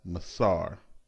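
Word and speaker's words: מעשר: its meaning from the hebrew word which is pronounced as masar the word masar is translated as tithe throughout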